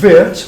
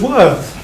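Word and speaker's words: Wirth: And he said, "You can call me by name as Wirt, or you can call me by value as Worth."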